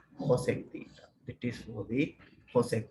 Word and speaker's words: cosec: Sometimes this is denoted as CSC theta, even though this is denoted as CSC theta, this is pronounced as the cosec theta.